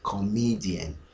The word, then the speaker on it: comedian: You realize that the second vowel, that is the middle sound, me, this is me and this is me. You see, it doesn't sound the same. Comedy, listen carefully, comedy, and this one is comedian.